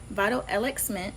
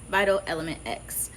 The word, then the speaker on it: Vital EleXment: Now, there are two ways to pronounce it. You have Vital Elixment, where you put the X in the element. It's just because I wanted to hear my name. And that's honestly the truth. And another way for it to be pronounced where it's not as complicated that I liked was Vital Element X.